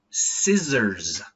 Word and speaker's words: scissors: The next one is scissors with a Z. Even though we have the letter S, it's actually Z. Z. Z. So put your tongue behind your teeth.